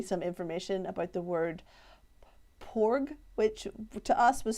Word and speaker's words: porg: information about the word porg which to us was spelt p-o-r-g but the pronunciation is same as the p-a-w-g which is in the